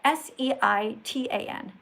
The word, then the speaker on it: seitan: It's spelled S-E-I-T-A-N, seitan, right?